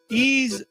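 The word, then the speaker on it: Ys: Skullfang, Saturn Tribute Boosted, Ease X Nordics, the latest in the long-running Ease franchise, and that's spelled Y-S.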